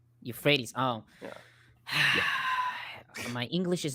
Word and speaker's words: Euphrates: is in that area you pronounce that as Euphrates you well it's for the it's for the English people Euphrates oh my English is